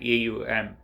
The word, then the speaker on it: Om: as it is evident the word om it's pronounced at aum connects as the cosmos